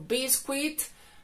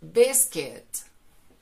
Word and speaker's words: biscuit: minutes y está a muchos suelen pronunciarla como biscuit tampoco es biscuit es busquets si te gustó y te